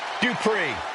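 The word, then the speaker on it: Dupri: Here comes the talented Maxine Dri. Uh, Michael, it's pronounced Dri representing the Alpha Academy from Phoenix, Arizona.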